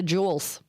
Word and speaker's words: Jewel: When it was right next to our baseball fields, but don't ever ever pronounce Jewel with a S.